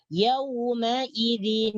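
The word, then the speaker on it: يومئذ: yawma-idzin ini boleh dibaca maka nun mati yang terdapat dalam tanwin gunaydin dibariskan bawah menjadi yaumaidzin ilmu steelco akan tetapi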